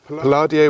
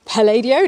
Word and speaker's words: Palladio: at the University still piladio was born here yes or Palladio depending on how you want to pronounce it well I say Palladio you say Palladio and the Italians say Palladio okay fair enough he